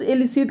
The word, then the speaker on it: elicit: ठीक है, और एक वर्ड और होता है, उसको भी प्रोनाउंसिएशन तो हम सेम ही करते हैं, ELI, थोड़ा सा ध्यान से देखिएगा, CIT। इस एलिसिट का मतलब होता है किसी से कोई खबर निकालना।